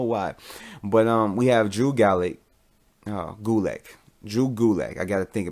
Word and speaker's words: Gulak: Gulak. There we go. I don't know why I spaced on that. I don't know why. But we have Drew Gulak.